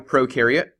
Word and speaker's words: prokaryote: about we have a prokaryote and we have a eukaryote the pro rhymes with no pro rhymes with no